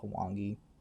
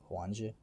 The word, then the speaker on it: Huangji: I wanted to say it was pronounced Hwangi, but Huangji.